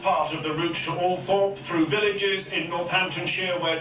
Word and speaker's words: Althorp: Even though she had preferred bright lights and big cities, the rural setting of Althorp, sometimes pronounced Altrop by the Toffs, was thought most appropriate for Diana's last resting place.